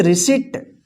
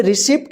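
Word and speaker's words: receipt: यहां पे देखिए RACEIPT, इसको क्या पढ़ेंगे, रिसिट। रिसिट का मतलब होता है रसीद, यहां पे रिसिप्ट मत पढ़िएगा, रिसिप्ट गलत होगा, रिसिट।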